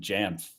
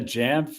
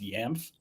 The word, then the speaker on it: Jamf: And somebody on one of the Jamf like customer support message boards was making a joke. Like, that's an obviously funny joke that it would be pronounced Yamf. But Google's like, "Yeah, that's how you pronounce it."